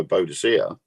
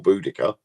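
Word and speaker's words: Boudica: when it was ransacked by bodia or budika however you like to pronounce her name um when she burnt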